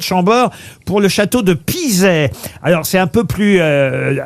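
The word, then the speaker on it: Pizay: Vous allez quitter le château de Chambord pour le château de Pizet.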